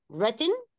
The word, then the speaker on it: written: ونخلي بالنا ان في الثلاث تصريفات الدبليو ما بتتنطقش, write, wrote, written.